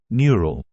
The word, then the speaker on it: neural: and learn like humans we often pronounce e u as a long u sound so the word is pronounced as neural neural comes from the